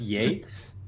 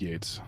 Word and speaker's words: Yeats: Technically, I think it's pronounced Yates, but Oh, yeah, there